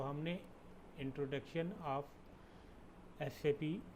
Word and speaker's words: SAP: It is pronounced as individual letter SAP. SAP is not pronounced as a word SAP.